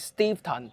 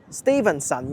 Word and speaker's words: Steveston: Many Hong Kong people read it as "Stevenson" when they first saw it. That's wrong. Remember the correct pronunciation is "Stevenson".